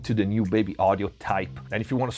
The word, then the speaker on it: TAIP: all right baby audio type first there's a reason because it's spelled this way t-a-i-p because they put an